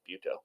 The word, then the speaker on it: Butto: I'm pretty sure it's not pronounced Butto. I'm pretty sure it's Buto.